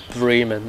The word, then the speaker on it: Bremen: Bremen is how you pronounce it, and in this map, Berlin Spandau,